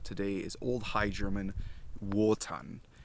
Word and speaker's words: Wotan: is old high german wotan it's not actually pronounced v as in voton that is much later the old high german pronunciation of w is simply w so from proto-germanic we